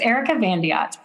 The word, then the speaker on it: Erika Van de Yacht: a lot better you did well yes it's Erica vot all right uh excellent uh so Erica before